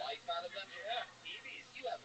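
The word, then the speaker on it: Eby: Brett, how do you say that last name? E-B-Y? Evie.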